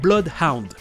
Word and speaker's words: Bloodhound: à la française, c'est Bloodhound. Blood, c'est du sang, et les deux O se prononcent comme un O tout seul, Blood.